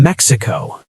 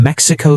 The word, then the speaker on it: Mexico: "I am from Mexico," she practiced again, focusing on the English pronunciation. "I'm from Mexico City."